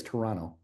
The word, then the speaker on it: Toronto: Apparently, you don't say the second T. Apparently, it's Toronto.